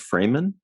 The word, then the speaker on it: Fraeman: a e got it is your last name pronounced freeman uh yes i should have said